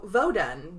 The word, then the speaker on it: Vodun: So, Vodun, the I'm going to say it like that because this is the original one. This is not voodoo. This is Vodun.